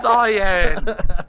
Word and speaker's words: cyan: cyan, bro. It's cyan. It's cyan. Cayenne is pepper.